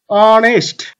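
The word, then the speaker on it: honest: যেমন দেখো অনেস্ট এইচ কি তার নিজের মতন উচ্চারণ হচ্ছে না এস টা অ স্বরে অনেস্ট আয়ার ঠিক আছে এস টা আছে আয়ার আয়ার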